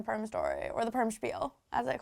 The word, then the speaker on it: spiel: If you ever hear a word that's spelled with an S but is pronounced sh, spiel, like schwimmer, or like a schmuck or schmutz, it's us.